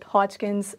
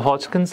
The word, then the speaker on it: Hodgkin's: We pronounce it all right. It's it's Hodkins.